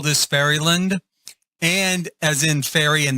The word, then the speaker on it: Fairylin: I call this Fairyland and as in ferry and then l i n. I I I pronounce it with a d on the end. It does not have a d on the end.